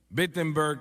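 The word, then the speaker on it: Wittenberg: Alemania o no perdón empieza con una W pero se pronuncia como una B bettenberg Alemania y clava sus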